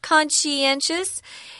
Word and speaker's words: conscientious: title first if you're conscientious that's how you pronounce that word con she conscientious it just means you're